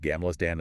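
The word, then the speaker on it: Gamla stan: You get this amazing perspective on Gamlerstan, the old town, pronounced Gamlerstan, and the Royal Palace, right from the water.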